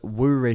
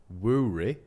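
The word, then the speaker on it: Woorey: One of them was Woory Fury, because it rhymes. Woory?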